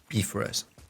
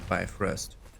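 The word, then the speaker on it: Bifröst: Bifrost is the correct pronunciation in Norse. Although you all will say Bifrost.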